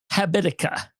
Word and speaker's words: Habitica: It's one of those um Habitica I think is how you spell it.